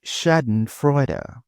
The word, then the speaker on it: Schadenfreude: How do you pronounce this? It's Shadon Freud.